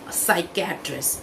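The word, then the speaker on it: psychiatrist: अगले जो डॉक्टर हैं वो हैं साइकेट्रिस्ट। स्पेलिंग में पी है लेकिन शुरू होता है ये एस से।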